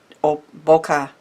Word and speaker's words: bokeh: So it's a layered stencil, so it has the big, little, and small bokeh, I think is actually how it's pronounced, dots.